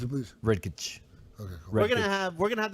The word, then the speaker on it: Redkach: Pronounce it, please. Redkach.